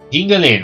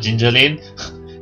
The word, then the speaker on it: Giggling: Giggling, okay, that's how you pronounced it, not Gingerlane.